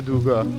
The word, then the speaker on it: دوگا: رسیدیم به دوگا و اینم که ق سه نقطه که گ تلفظ میشه چون عربا ندارن ولی اسمش از عربی نیومده اینجوری نوشته دوگه چرا